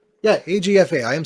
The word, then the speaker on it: AGFA: Yeah, AGFA.